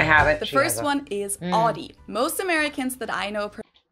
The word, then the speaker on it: Audi: the first one is aie most Americans that I know pronounce it like I just said it aie in German we say Audi AI what so we